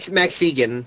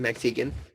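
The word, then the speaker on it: Max Igan: And Max Egan is how you pronounce his name, Max Egan. Max Eigen doesn't make a difference.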